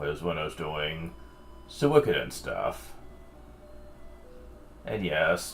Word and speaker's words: Suikoden: when I was doing Suikoden stuff. And yes, that is how it's pronounced, not Suikoden. It's... the way I pronounce it is a lot closer to the original Japanese one.